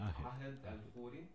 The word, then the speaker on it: Ahed Khoury: Ahed Al-Huri. Pero bueno, por la diferencia del lenguaje, del Sí. idioma, Sí. se pronuncia diferente.